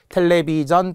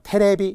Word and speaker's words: 텔레비전: 텔레비전 또는 비전까지. 역시 지연 안 되죠. 뭐 테레비 이런 거 안 되고요.